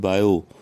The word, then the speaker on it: Biot: यहाँ पर आप देखिए बायो सेवर्ट लॉ, इसमें जो पहला वर्ड है बायो, BIOT, इसमें टी साइलेंट है इसलिए इसको बायो पढ़ा जाएगा।